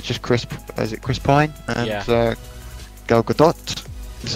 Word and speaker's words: Gal Gadot: stuff, and it's like just Chris Pine and Gal Gadot, is how you pronounce it.